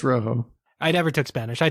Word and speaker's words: Rojo: was that's amazing though Rochelle Fuego I'm sure I'm pronouncing that wrong I never took Spanish Rojo Fuego yeah it's Rojo I never took Spanish